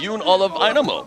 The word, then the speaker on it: John Olav: And that is an accomplishment against a guy like Yun Olive. Yeah. I I love it when you say Yun because everybody would say, "Hey, his name is John."